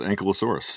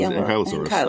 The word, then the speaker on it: Ankylosaurus: I always thought it was Ankylosaurus. Yeah. I did not realize it was Ankylosaurus until watching this.